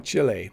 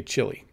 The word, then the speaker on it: Chile: that is correct so i'm saying chile most english speakers say chili they just say chili it's not a very good pronunciation but that is where